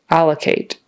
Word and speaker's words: allocate: the funds to you allocate with the syllable stress on the first syllable allocate it's not allocate or alocate it's allocate